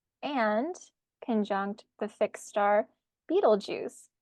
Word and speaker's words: Betelgeuse: conjunct the fix star Beetle Juice not to be confused with the Beetlejuice movie but I wonder if that's where they got it from yeah Eno says he thinks it's pronounced beetle guys but I like Beetle